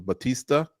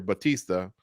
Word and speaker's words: Bautista: You're Bautista, so that it rhymes with Barista.